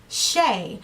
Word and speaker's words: Chae: That is my real name, and I changed my channel name from Faces by Princess to Princess Shay. So C-H-A-E is pronounced Shay, and that's a part of my middle name.